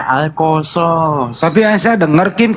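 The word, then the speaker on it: القصص: ada ayat alqaso kosos enggak ada huruf o itu dalam bahasa Arab ya Tapi bacanya alqasos Mana ada Iya itu tulisannya alqasas tapi dibaca alqosos tapi a Saya dengar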